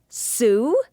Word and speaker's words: Sue: Her name begins with the S sound and rhymes with blue. Did you guess Sue?